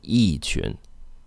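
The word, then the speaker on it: 一群: fourth tone so so e should be pronounced with a fourth tone e tune and what's the next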